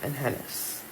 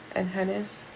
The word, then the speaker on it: Enhenes: back once I learned, because I've heard so many people pronounce it differently, but it's the clinic in Mexico. It's called Enhenes. Told you I was going to come back with it. Enhenes, and it's going to